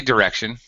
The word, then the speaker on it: direction: so Direction on yeah I don't say it with a long eye no no short eye direction direction you have to because the middle syllable stressed so the first and last syllable are unstressed so short vowel sounds Direction yeah um yeah